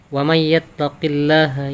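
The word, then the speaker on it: وَمَن يَتَّقِ اللَّهَ: persatu waman yattaqillaha namun ketika dihukumi Idgham Bighunnah nun sukun bertemu ya maka dibacanya lebih identik kepada huruf ya Jadi tidak boleh dibaca wanita Hai Man tapi May Hai wamayatakilaha ya Jo Dil Hum makhroja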